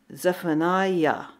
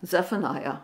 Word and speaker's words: Zephaniah: next uh model up is Benjamin uh Zep zephani yeah Zephaniah oh boy I look these up phonetically and then I have to say them